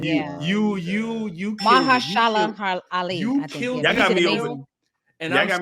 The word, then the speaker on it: Mahershala: Marshala. That guy, Mr. Ali. Mr. Ali, I have a lot of reverence for you. Marshala Ali. Right. You Mahershala Ali.